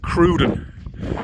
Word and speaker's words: Crowden: miles away from crowden crowden that's where I stayed on the first night and you spell that c r o w d e n and he called it cruden the New York accent